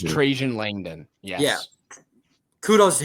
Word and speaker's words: Trajan: I don't know how to pronounce it. Trajan. It's Trajan Langdon.